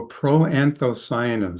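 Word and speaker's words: proanthocyanins: So pro-anthocyanins, that's how that big word is pronounced.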